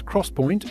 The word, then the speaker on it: XPoint: products the 3dx point which is pronounced as cross point is the method that